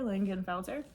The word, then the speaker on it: Lingenfelter: name is Lincoln felter Lingenfelter which is German from langenfeld Germany technically speaking and but